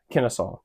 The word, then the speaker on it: Kennesaw: They had a word that sounded like it. I'll put it on the screen, but we pronounce it Kennesaw.